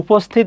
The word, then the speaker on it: উপস্থিত: উপস্থিত, দেখো উপস্থিত, এখানে দেখো ছয়ের মতো উচ্চারণ হচ্ছে, সেক্ষেত্রে এখানে দন্তস্বয় থেকে যাবে, উপস্থিত।